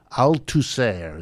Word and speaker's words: Althusser: Althusser is how they pronounce it, Althusser.